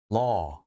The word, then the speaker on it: law: LAW, law 아니고요. 발음이 이렇게 됩니다. law. 우 하시면 안 돼요.